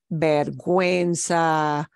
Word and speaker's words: vergüenza: The U comes back and we do pronounce it pingüino, vergüenza, güero.